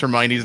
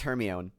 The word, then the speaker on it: Hermione: like tell Viktor Krum she actually goes Hermione and I'm like what up until that point I read it as her my own wow you didn't have